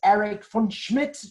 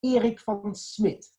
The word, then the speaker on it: Erik van Smit: I play the character Erik van Smit, also known as Eric van Schmidt or something like that, however the UK people pronounce this. But it's Erik van Smit.